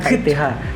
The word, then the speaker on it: Kith: Kit gimana sih bacanya? KITH. Kit.